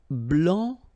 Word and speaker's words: blanc: Blanc, blanche, okay? So I wanted to put for each color the masculine form here and then the feminine form here, okay? So here, masculine, blanc, don't pronounce the final C, and then blanche, okay?